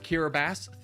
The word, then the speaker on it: Kiribati: end of the day it's said like kirab bass thank you hold on